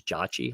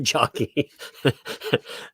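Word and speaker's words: Ejiochi: One, they butchered his name at the beginning because his name was Jachi, not Jockey.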